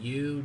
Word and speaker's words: Yu: We have a blue number to 99, Yu Darvish. His name is Yu and it's spelled Y-U.